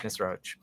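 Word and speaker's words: Nisroch: It's it's pronounced Nisro.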